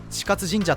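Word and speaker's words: 智勝神社: 智勝神社と読み、宝亀 9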